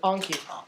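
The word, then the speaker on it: Enki: Anki. Yeah, technically it's pronounced with an A. It's E-N-K-I.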